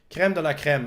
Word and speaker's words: crème de la crème: We have the crème de la crème, as we say. We like to say it in English, but I pronounce more the French way.